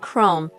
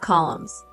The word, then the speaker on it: Chrome: My grandmother tried to correct his mispronunciations, pointing out that it was Google, not goggles, and Chrome, not columns.